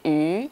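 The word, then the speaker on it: 鱼: fish in Chinese, the sound of the pronunciation of fish sounds like yu, mm-hmm. and that means surplus. Oh.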